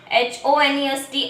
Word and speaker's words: honest: HONEST, honest. HOUR, hour. These words are also started with the consonant, but we pronounce it vowel sound.